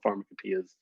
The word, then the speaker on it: pharmacopoeia: Actually, pharmacopoeia. That's a disputed topic. So it is? Free, yeah. It could go either way? It's about 50-50.